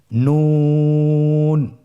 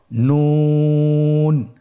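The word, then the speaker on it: نون: আপনারা আমার সাথে বলুন নন। আরেকবার চেষ্টা করুন নন। নূর হরফটির উচ্চারণ স্থান হচ্ছে জিহ্বার আগা তার বরাবর উপরে তালুর সঙ্গে লাগিয়ে উচ্চারিত হয়।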